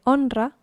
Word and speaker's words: honra: Me honra estar aquí. I'm honored to be here. Remember, H is never pronounced. It's like it doesn't exist.